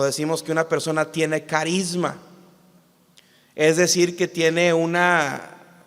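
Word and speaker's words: χάρισμα: De hecho, la palabra don en el griego se pronuncia carisma, de donde viene la palabra carismático, don espiritual, carisma neumáticos.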